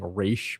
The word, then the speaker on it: Ra's al Ghul: You know, I guess like in the last couple of years, I started saying Raish. But if you asked me, like when I was a kid, it was definitely Ra's al Ghul.